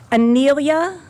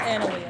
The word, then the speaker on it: Analia: Anelia. I didn't say it right, did I? It's Analia. Analia, got it.